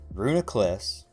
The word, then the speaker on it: Reuniclus: Reuniclus...